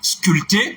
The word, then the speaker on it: sculpter: Sculpter, sculpture. D'ailleurs, c'est le nom dérivé du mot, et on pourrait ajouter aussi sculpteur, grand frère. Donc, dans tous ces mots, le P ne se prononce pas.